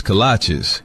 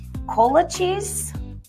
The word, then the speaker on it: kolache: What's a colache? Oh, cola cheese? Colache? Kolaches? Kolache? Like the shoes? No, that can't be right. It's kolache, but it don't matter what